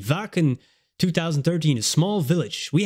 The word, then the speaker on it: Wacken: time at w ven somebody told me it pronounced as a v vaken 2013 a small village